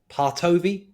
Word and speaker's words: Partovi: being and that's the one and only Hadi partovi have I pronounced the name correctly yes great even though